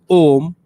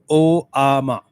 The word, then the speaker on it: Om: but you should understand the pronunciation of Om at starting and Om at end are different. At starting it is Om, at the end it is O Ama.